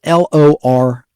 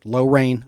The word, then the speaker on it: Lorain: And that's spelled Lorain, like low rain, like it's going to rain, Lorain, Ohio.